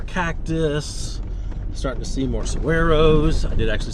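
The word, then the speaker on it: saguaro: saying with g and apparently the g is silent it's not saguero it's SOS so there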